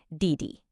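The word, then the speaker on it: 弟弟: It actually follows the exact same pattern as bàba, a falling tone followed by a light neutral one. Listen closely. Didi.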